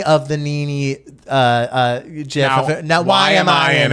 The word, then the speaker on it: GIF: The conclave happened is white and it is gif, baby.